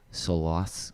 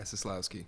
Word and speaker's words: Soslowski: Sitting down with me is Solowski. I'm going to say it wrong. Yeah, Soslowski. Soslowski. Yeah.